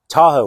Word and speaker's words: TaHOW: TaHOW, why is it called TaHOW? Because obviously Lake Tahoe is T-A-H-O-E, and this is spelled T-A-H-O-W.